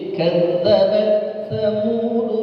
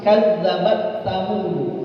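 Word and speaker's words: كذبت ثمود: Yang pertama, dia taknya enggak dihams. Kadzabat samud. Kadzabat samud. Enggak dihamsin. Yang kedua, taknya dimasukin ke kadzabat samud.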